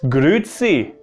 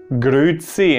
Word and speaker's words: grüezi: Another way to say hello, and that's probably the way that most of you already know about, is grüezi. Grüezi, and that's also why I can pronounce it quite well in comparison to the other things, because that's just something you hear.